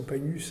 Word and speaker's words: pagus: Et c'est ça l'essence même du polythéiste occidental, c'est d'être profondément attaché à son pagus, à son pays. À son quoi? Pagus. Pas phallus. Non. Pagus. Ça s'écrit P-A-G-U-S.